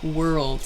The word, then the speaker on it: world: year or two ago world is really difficult to pronounce so like were it's the it's the are LD I think world so lots of people say like wah wah die think or something different but work on that are and L sound like making the change very quickly there between are now were